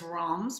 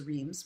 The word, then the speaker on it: Reims: cities in in Champagne one is wrongs which I never pronounce well I used to think it was Reims which is very much